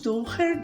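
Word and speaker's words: Dürer: este lápis da albrech durer da Faber Castel é a linha albret duer durer se pronuncia eu estou usando esses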